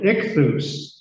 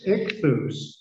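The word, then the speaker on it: ἰχθύς: The Greek word for fish is spelled I-X-T-H, ichthus, is the word. Rather than spell, I probably should pronounce it, ichthus.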